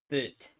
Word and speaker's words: boot: Boot. Boot. It's just pronounced boat.